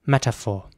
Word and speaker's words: metaphor: more like metaphor so the t is very soft it's almost like a d meta it's not meta it's meta it's a metaphor the next word is